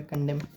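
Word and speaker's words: condemn: N silent है यहां पे कंडेम।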